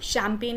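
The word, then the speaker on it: champagne: सो it will B सी एच ए एम पी ए जी एन ई। अब चाहे तो उसको आप ऐसे लर्न कर लीजिए शैम्पेगन करके, या फिर शैम्पेन लर्न कर लीजिए कि गम जो है वो नहीं रहता, okay, for some time, ji will be silent.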